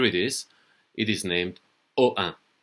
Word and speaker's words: Ohain: don't speak French that might be difficult to pronounce so here it is it is named OA OA is the name of the village it's a